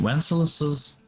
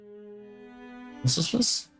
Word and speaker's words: Wenceslas: Crown traditionally must be borrowed from St. Wenceslaus. Wenceslas. I've been saying it wrong this whole time.